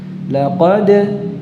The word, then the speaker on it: لقد: كبد dal qalqalah ya, dalam pengucapannya tidak ada hamzahnya, tidak, laqad cukup ya.